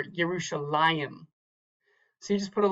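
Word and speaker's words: ירושלים: That tells you that that is the accented syllable, not the last syllable. So this would be Va'anachnu, Va'anachnu, or Yerushalayim.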